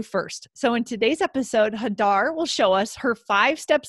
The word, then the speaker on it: Hadar: us a little bit about where you're from hadar and what you're doing in the esl world